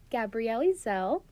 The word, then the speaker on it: Gabrielle Ezell: Gabrielle Zel. It rhymes. Her name freaking rhymes.